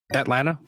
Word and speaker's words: Atlanta: It doesn't have a second It doesn't have a second T in it. That's I I swallow that though. Usually I There I didn't say the second T.